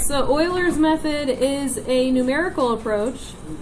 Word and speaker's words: Euler: not Euler nope modular Euler all right so Oilers method is a numerical approach to finding a